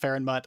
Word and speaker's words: Fenmoot: Fenmoots on Terara, and I know it's pronounced fairmut. I'm sorry. I'm so used to saying farm moot.